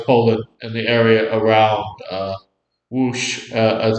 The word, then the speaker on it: Łódź: The largest group of Volhynian German settlers do come from Congress Poland and the area around Łódź, as it's known today in Poland. The Lodz, the German pronunciation.